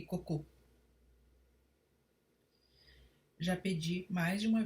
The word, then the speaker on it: cocô: Cocô, as fezes, é uma oxítona terminada em o fechado, por isso leva acento circunflexo, assim como em vovô.